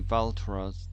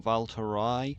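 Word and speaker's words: Valtrois: Veras. The S is silent. Valter. No. Valterai.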